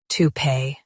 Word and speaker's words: toupee: tou pee toupee Stress pee and keep tou light.